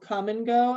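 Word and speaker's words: Kum & Go: Does Ollie know about the chain of gas stations we have here called Come and Go, and it's spelled K-U-M?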